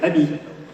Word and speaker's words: AMI: We actually pronounce it the French way, Abby, which means friend.